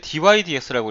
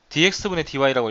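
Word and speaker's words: dy/dx: dydx이 읽을 때 dydx라고 읽는 거다. dx dy라고 읽는게 아니라 위에서부터 아래로 올리는 거야.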